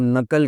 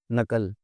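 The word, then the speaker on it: knuckle: मुड़ती है, उसको आप नकल कहते हैं, नकल। तो ये के अल्फ़ाज़ है जी, के कहाँ साइलेंट है, एल कहाँ साइलेंट है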